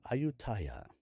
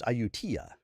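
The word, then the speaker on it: Ayutthaya: And I believe I probably been pronouncing this word wrong. Ayutaya. Let's see. I think he tells me in a minute. I tia. It's Iutia. A yu t h a y a. Iutia.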